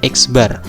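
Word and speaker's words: x̄: X terus ada garis atasnya, ini bacanya X bar.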